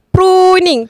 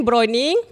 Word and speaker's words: pruning: isu untuk dibahas juga pruning tapi ada orang cakap browning. Salah eh pekebun ejaan dia bukan brown. Pruning p r u n i n g. Jap jap jap jap jap jap jap. Ini pelajaran kita untuk hari ini. Bukan browning tapi pruning.